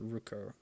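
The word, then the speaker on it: Rquo: Her name is spelled R-Q-U-O, but it's pronounced Ruko.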